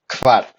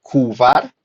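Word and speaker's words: kvar: pronuncia listo Far aquí hay que tener mucho ojo con la pronunciación de la k y la v juntas debe sonar de forma correcta No se pronuncia cuvar ni cavar ni de otra forma ni covar ni nada tiene que sonar ambas letras bien pronunciadas una tras otra y es una de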